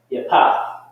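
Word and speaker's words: Yapheth: How do you say that in the Hebrew? Japheth. Yapath. Yapath.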